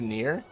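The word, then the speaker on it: Nier: It's It's Oh, it's pronounced near.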